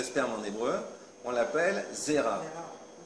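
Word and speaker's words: זרע: On l'appelle Zera. Zera, ça s'écrit Zain, Resh, Ain.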